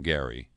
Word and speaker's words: Gerry: book on gerrymandering or do you say Gary the guy who gerrymandering is named for pronounced his name Gary it gets a little